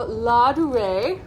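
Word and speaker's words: Ladurée: So first up, we have La Durée.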